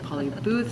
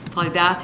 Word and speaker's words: Paulie Bath: have on board were Paulie Bath who I keep saying Paulie Booth so I'm going to say it right this time Pauly Bath who came and worked